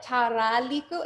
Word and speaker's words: tarlico: Now, we often combined our D's and our R's. So even though some people spell it tarlico, it almost sounds like a D in the front of your mouth. So that's why it became the tarlico.